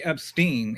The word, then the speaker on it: Epstein: But then I heard one of the victims say Epstein. And so I'm like, okay, rhymes with spleen.